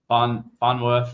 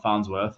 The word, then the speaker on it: Farnsworth: Funworth, not Farnsworth, as some people will pronounce.